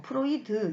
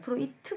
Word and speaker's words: 프로이트: 처음 제 한분이 9년 프로이트 든요 여러분들 어떤 프로이드 이렇게 이야기를 하는데 어 그 원래 2분이 제도 개 분이시기 때문에 2개씩 발음을 하지 않은 프로이트 담았죠 그래서 포인트인데 프로이트 어 2 정말 유명